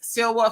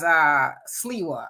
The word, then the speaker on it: Sliwa: So he beat that of Andrew Cuomo and Chris Silva, who was running as Sliwa, I always say his name wrong, running as a Republican,